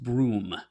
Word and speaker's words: Bruttenholm: For the record, Ian, in defiance of all sense, Bruttenholm is actually pronounced Broom. Really?